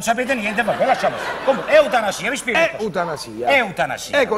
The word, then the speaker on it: eutanasia: No, non si dice zia, eutanasia. Si dice. Eutanasia, con la S normale.